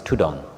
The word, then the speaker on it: ธุดงค์: The Thai word, the derivation or the way it's pronounced is tudong.